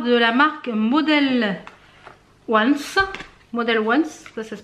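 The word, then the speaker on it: Models Own: Model Once, ça se prononce comme ça.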